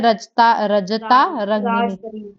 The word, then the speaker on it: राजतरंगिनी: और एक था कल्हाना ने लिखी है रजता रंगिनी, राजतरंगिनी, यार जैसे मर्जी प्रोनाउंस करो, ठीक है, राजतरंगिनी।